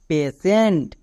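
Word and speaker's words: patient: তার মানে পি এর জন্য এখানে আমি তালিবস্ত্র উচ্চারণ করব যেমন পি এ পে টি আই ই এন টি সেন্ট পেসেন্ট তাহলে বোঝা গেল টি এর জন্য তালিবস্ত্র কখন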